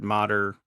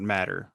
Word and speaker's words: Matter: Mater is actually spelled Matter, but they pronounce it Mater, not Matter. So it looks like Family Matter, but it's a Mater.